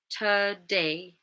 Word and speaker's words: today: It's in the first syllable. Okay. Today, today. If you guys aren't sure, remember it's going to be the unstressed syllables. So listen for the stress first. That might help. And then you can then listen to the unstressed one and be like, oh, that sounds like a schwa.